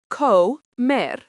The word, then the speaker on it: come: Let's look at this with another verb, comer, pronounced co-mer, means to eat.